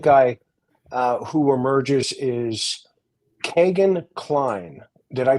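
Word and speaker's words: Kegan Kline: H the second guy uh who emerges is Kagan kleene did I pronounce his name correctly yes Kegan Klein so give us a a little uh rundown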